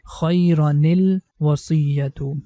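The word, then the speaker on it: khayranil wasiyyatu: So run becomes rani, and the ni sound is going to connect with lam. So the correct pronunciation is khayranil wasiyatu.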